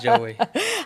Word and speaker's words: Joewayyy: It's Joewayyy.